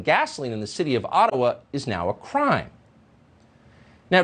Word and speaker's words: Ottawa: let the mayor of ottawa or otawa as it's correctly pronounced in a jibba explain why peaceful truck